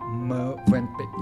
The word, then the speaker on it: Mövenpick: As I just learned that we pronounce Mövenpick, correct?